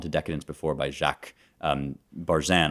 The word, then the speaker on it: Barzun: I've recommended From Dawn to Decadence before by Jacques Barzun, although apparently it's pronounced Barzun. I didn't know this, but Barzun.